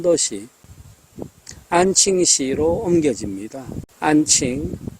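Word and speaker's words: 安庆: 안칭 우리식 발음으로는 안경시입니다.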